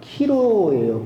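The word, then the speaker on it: ΧΡ: 안 가르쳐 줬다라고 그래가지고 PX가 아니라 XP 그렇게 읽는 게 맞냐라고 했는데, 읽는 방법은 키로예요. 키로. 이게 그리스도스, 그리스도의 앞 글자 두 자죠.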